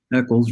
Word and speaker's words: Eccles: Eccles rhymes with Heckles.